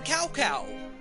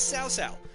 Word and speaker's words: Cao Cao: generational leader as south-south earlier games in the series called him cow cow completely bummed really Japanese for the Chinese pronunciation but this is sow sow he is the leader